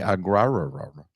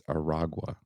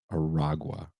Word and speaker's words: Aragua: This time, his target is the Venezuelan gang Tren de Agua. I kept saying Tren de Agua. I think I spelled it wrong, but it's not. It's Aragua. Aragua.